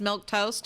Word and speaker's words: Milquetoast: like it's red milk toast oh it's just milk toast okay all right fine you added in a